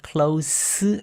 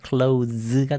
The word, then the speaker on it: close: 형용사로 쓰였을 때의 s는 s 발음입니다. 그래서 close friends라고 해야 되는 것이고, 왜 우리 문을 닫다라고 할 때 그때는 동사이죠. 동사로 쓰였을 때 이 s는 z 발음을 합니다. close가 되는 거고, 여기는 close입니다.